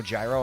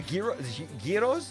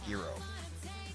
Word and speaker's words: gyro: You know, the food the gyro giros. How you pronouncing like you can't say g you can't say you can't say girro or zero. People get mad at you.